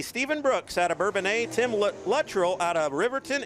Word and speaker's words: Bourbonnais: Stephen Brooks out of Bourbonnais, Tim Luttrell out of Riverton, and Tanner Sullivan out of Pontiac, Illinois.